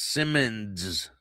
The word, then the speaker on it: Simonds: Now, uh Gregory Simmons, his his name is spelled S I M O N D S, Simmons Jr., 42 years old of Pensacola, pleaded guilty